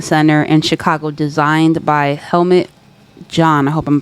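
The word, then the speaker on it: Helmut Jahn: Thompson Center in Chicago, designed by Helmet John. And I hope I'm pronouncing that correctly.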